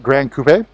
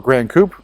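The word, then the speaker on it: Gran Coupe: I have seen Ametrin Metallic on the M8 Grand Coupe, or Grand Coupe, whichever your preferred pronunciation is. Either one works in American.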